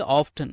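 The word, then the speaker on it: often: ஓ எப் டி என் இத வந்து ஆஃப்டன் அப்படின்னு கூட உச்சரிச்சுக்கோங்க இல்ல ஆஃப் அப்படின்னு கூட உச்சரிச்சுக்கோங்க ரெண்டு உச்சரிப்புமே சரியான உச்சரிப்புதான் சரிங்களா டூ யூ கோர் ஆஃப்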